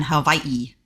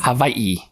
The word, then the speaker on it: Hawaii: Because Hawaii. Yeah, because they don't have the W in their language. I think Germany doesn't have a W either. They spell it with the W, but it's pronounced a V, and it's the same way here.